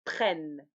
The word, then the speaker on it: prennent: Ici, la terminaison ne se prononce pas. Ils prennent, elles prennent. Oui, on répète. Je prends, tu prends, il, elle, on prend, nous prenons, vous prenez, ils, elles prennent.